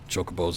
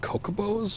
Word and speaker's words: Chocobo: always debates on pronunciations, chocobos included. I remember, I think Kokobos was popular way to pronounce it. I don't know. I just remember that once it was finally definitively known as Chocobo, there was some disappointed